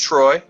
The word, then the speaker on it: Treu: again it's t-r-e-u it's pronounced troy yeah as he's indicated